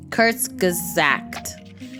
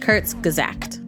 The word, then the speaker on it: Kurzgesagt: many where are those comments okay yes yes kurtz gazact kurtz gazact okay curse exact all right so now let's